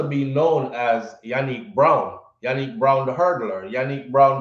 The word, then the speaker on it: Janeek: name is spelled janik but it's pronounced with a y yannick so i'm probably calling her name wrong but i keep on saying johnny the school said it